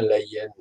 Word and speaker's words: Leyen: Et comme nous avons des dirigeants qui sont, y compris dans l'Europe, Ursula von der Leyen, je dis bien Leyen, je prononce bien.